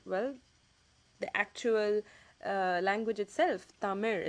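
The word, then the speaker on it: தமிழ்: the sound are well the actual language itself tamir it's actually pronounced as the mayor okay it ends with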